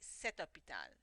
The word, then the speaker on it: cet hôpital: We put cet because hôpital starts with a vowel sound. But you say cet hôpital. That's how you should pronounce it.